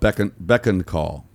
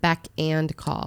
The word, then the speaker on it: beck and call: I've always heard it beck and call. That's the correct way to say it.